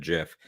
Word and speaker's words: GIF: it is called because much like moms choosing peanut butter choosy developers choose GIF don't forget about the